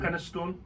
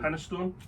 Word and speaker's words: Penistone: Penistone or true. Penistone. See, Aye, that's soup. A bit like minestrone, yeah. Aye. Penis stone. Or penis stone. Penistone.